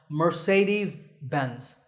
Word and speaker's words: Mercedes-Benz: get it exact right in English it's generally pronounced mercedes-benz mur say like to say something these dense